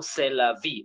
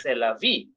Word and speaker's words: c'est la vie: we say those consonant last consonant is silent so based on that